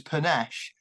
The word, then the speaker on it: Panesh: doing all right uh panish I must say any right um yes I know the actual pronunciation is panache yeah which I only